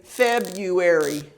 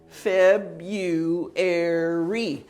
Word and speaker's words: February: it has four syllables February says four syllables but the r is silent so so uh you